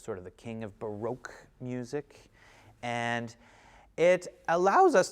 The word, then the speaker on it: baroque: and ian has written baroque notes or barack notes depending on how you pronounce it i say baroque baroque notes now baroque